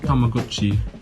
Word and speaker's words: Tamagotchi: Properly pronounced Tamagotchi, today the company continues its 90s trek with technology, adding infrared communication to newer models.